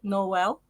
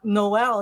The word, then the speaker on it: Noel: Do you know in the Philippines, Noel is actually pronounce it Noel? Right. Okay. Well, I've got one of these names which can be one or two syllables depending on the way you say it.